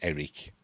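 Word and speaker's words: Airk: There's a son called Eric, but it's spelled A-I-R-K, but it's pronounced Eric.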